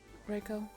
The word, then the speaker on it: Reiko: at the school to you was addressed as Reiko. Reiko. Okay. Um, how do you spell it?